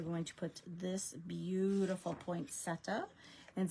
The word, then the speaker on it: poinsettia: And we're going to put this beautiful poinsetta. And some people say poinsettia, which actually I believe is the proper pronunciation.